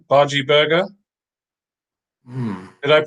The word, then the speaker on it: bhaji: Right, Bhaji Burger. Did I pronounce that correct?